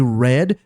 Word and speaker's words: read: Read e read tem a mesma escrita. Mas I read eu leio. I read eu li no passado.